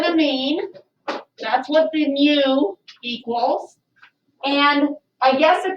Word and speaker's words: mu: pronounce that new so it's mu like a kitty cat all right so what